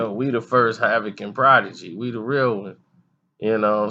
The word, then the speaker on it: Prodigy: and they called him his name is spelled protege you know he was like nah he's prodigy and that's a little